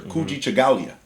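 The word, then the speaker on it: Kujichagulia: Kuji Chagalia.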